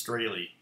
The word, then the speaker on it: Strahle: name, by the way, it's Strahle, long A, long E. It's not really supposed to be Strahle, but that's how us American morons pronounce it. In German, it would be Strahle. So, you have to say it angry like that.